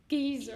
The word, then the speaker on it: geyser: In British English, it is usually said as geyser. Geezer. In Geezer. American English, Geyser. however, it is normally pronounced as geyser.